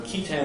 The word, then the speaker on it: qui tam: I would tell them that I'm writing on key term actions under the False Claims Act.